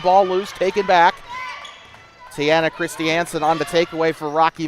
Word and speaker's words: Christiansen: By the way, yes, that's how you pronounce it. It's not Christensen, it's Christiansen.